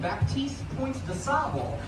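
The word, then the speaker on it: Baptiste Point du Sable: A black Haitian fur trader considered the father of Chicago, and I just said his name wrong. I said most Chicagoans say his name, Baptiste Point de Sable.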